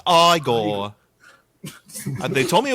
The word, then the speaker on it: Igor: No, no, it's pronounced Igor. And they told me it was Egor.